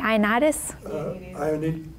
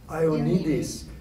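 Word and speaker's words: Ioannidis: And at the same time, I never know how to pronounce this. Someone help me. Ionitis? Ionides. It's Ionides.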